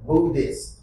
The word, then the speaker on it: Buddhist: there Bo Buddhist Buddhist actually the H is actually quiet Buddhist Bud Buddhist good group